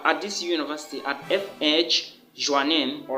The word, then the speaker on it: Joanneum: this university at fh joannen all right am i pronouncing the name well yes it is fh joe name all right so the